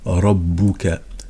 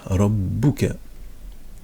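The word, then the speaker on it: ربك: Rabbuka. Donc on entend le Ra et on entend le Ba et le Kaf. Rabbuka. Et on essaie d'habituer notre oreille Rabbu pour détecter les shadda.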